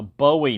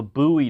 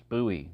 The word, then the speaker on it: Bowie: someone call it a Bowie knife instead of a buoy knife because that's that's the way it's pronounced here in Texas it's buoy not Bowie and to go through